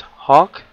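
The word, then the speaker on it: Hauck: his name is Spencer I think it's Hawk like Hawkeye except it's spelled h-a-u-c-k anyway I came here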